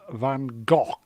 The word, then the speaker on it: Van Gogh: private in the chat says it is actually pronounced Van Gogh as good see I watch qi2 I used